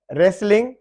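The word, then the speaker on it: wrestling: रेसलिंग, कुश्ती fighting वगैरह, W silent है।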